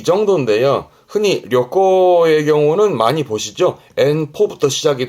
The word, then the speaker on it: 旅行: 여행의 여자 발음은 려꼬, 음으로는 려죠. 려꼬.